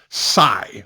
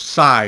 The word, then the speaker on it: cai: it's not wukai it's Psy I Cai is pronounced is pronounced PSI in Chinese all right just keep